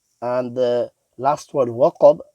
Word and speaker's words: وقب: So ghasiqin idha waqab. And the last word waqab, there's a qaf which is full mouth, in making sure that the waw remains empty mouth.